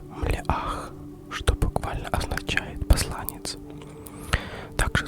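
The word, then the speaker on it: מלאך: Слово «ангел» на иврите произносится как «млеах», что буквально означает «посланец».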